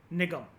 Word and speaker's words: निगम: आप इसको निगमा कह लो, निगम कह लो कोई फर्क नहीं पड़ता प्रोनंसिएशन से। एम जो एम के बाद जो ए है वो साइलेंट है। वैसे इसको निगम बोला जाता है।